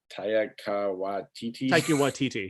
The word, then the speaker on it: Taika Waititi: I mean, hell, like you said, you got how do you pronounce his name? Taika Waititi, yeah.